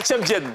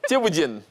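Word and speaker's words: thiéboudienne: C'est pas Tchèpjen. Je connais pas ça. Tieboudjen. Oui. Allez, de quelle place s'agit-il?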